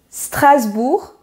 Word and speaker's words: Strasbourg: La première ville, on dit Strasbourg. Très bien. C'est un peu difficile. Hein? Strasbourg. Strasbourg. Très bien. On ne prononce pas la lettre G à la fin.